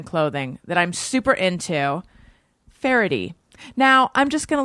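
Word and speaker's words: Faherty: like you think or it's pronounced differently than you'd expect from the spelling but it is pronounced farady and it is spelled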